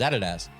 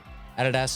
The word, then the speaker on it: Adidas: Adidas is how you pronounce it. It is German. Adidas. Adidas? Is it German? Yes, Oh, I did not know that. Adidas is not correct. That's how Americans pronounce it, and it's wrong.